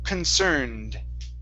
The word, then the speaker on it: concerned: The ed ending. This E is silent, but this time instead of having a t sound like looked, the ed sounds like a d. Okay. So, this word is concerned.